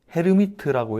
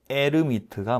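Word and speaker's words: Hermite: 미리 알려 줘라고 말씀하신다면 찾아보시면 헤르미트라고 읽으시면 안 됩니다. 저분은 프랑스 사람이라 에르미트가 맞습니다.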